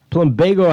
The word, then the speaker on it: Plumbago: Janicia Pratt, Plumbago House.